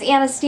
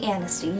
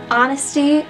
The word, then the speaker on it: Anasti: another episode of Honesty Anasti. Yes, I finally picked it back up again because I think it's a really smart idea. My name has been mispronounced as Honesty many times, and so I'm going to take advantage of that.